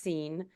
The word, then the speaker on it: Sean: His name is pronounced Scene. It's spelled Sean.